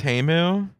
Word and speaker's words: Temu: pronounced Temu.